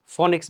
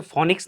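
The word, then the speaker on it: Phoenix: আমার বাইসাইকেলটার মডেল হচ্ছে ফনিক্স বাইসাইকেল যেটা একসময় খুবই বিখ্যাত ছিল এটার প্রকৃত উচ্চারণ কিন্তু ফনিক্স কিরকম একটু দেখেন বুঝতেই পারলেন যেটা হচ্ছে ফনিক্স না ফিনিক্স ফিনিক্স তো যাই হোক তারপর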